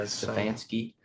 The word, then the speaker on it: Stefanski: Who's going to be the guy that, like last year, I can't pronounce his last name. Is it Stefanski for the Browns? Yeah, Stefanski.